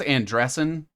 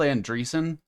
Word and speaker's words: Andreessen: I think it's Andreessen, but it's spelled Andreessen, so I always say Andreessen.